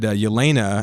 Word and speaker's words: Yelena: He said Yelena, and I think I would say Floch too.